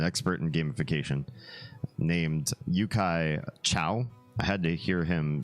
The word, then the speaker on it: Chou: name because it's spelled c hou and in Mandarin if you saw that in pin pron or spelled out I would have pronounced that last name Cho not Chow but I heard him